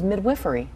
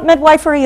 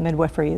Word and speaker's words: midwifery: I didn't know it was midwiffery. Yes. Well, midwifeery is a variant pronunciation. So, it's certainly not incorrect, but midwiffery is used.